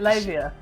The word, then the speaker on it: Leiva: Labia.